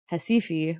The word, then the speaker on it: Recife: And then maracatu, which I also mentioned, is a carnival rhythm from Recife, or it looks like Recife when you spell it out. It starts with an R, but the city in Northeast Brazil.